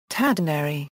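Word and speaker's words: 忠度: His name, Tadanari, is pronounced the same as words meaning riding for free.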